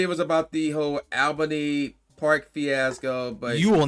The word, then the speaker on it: Albany: Originally it was about the whole Albany Park fiasco, but you will not call it Albany. Get out of here with that. What's wrong with Albany? It's Albany. People that aren't from here called Albany.